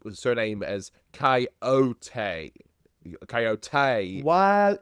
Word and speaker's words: Coyote: Coyote pronounces his name with surname as Coyote.